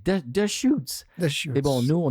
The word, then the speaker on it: Deschutes: et sur le site ils expliquent comment prononcer the shoots et bon nous on